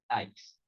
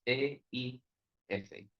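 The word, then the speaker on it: εἰς: La palabra en griego que se traduce en griego es la palabra eis, o eis, depende de cómo lo pronuncias, es E-I-S, eis.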